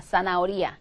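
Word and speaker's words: zanahoria: 거죠 그다음에 이거요 뭐요 나오리 사나 아체 무음 오리아 사나 오리아 당근이예요 사나 오리아 혹은 사나 오리아 이렇게 쓰신다는 거죠 그다음에 스페인어에 이거 이거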